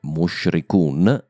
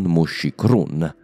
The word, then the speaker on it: Mushrikun: Inoltre, Mushrikun e non Mushikrun. Qui ho semplicemente sbagliato la prima volta e mi sono tirato dietro l'errore.